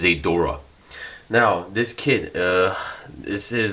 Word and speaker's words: Zeydra: high grades a durock some people call is a draw but I believe the actual pronunciation is a Dora now this kid this